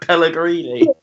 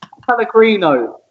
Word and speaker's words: Pellegrino: You called him Mauricio Pellegrini. Pellegrino. Not Pellegrini.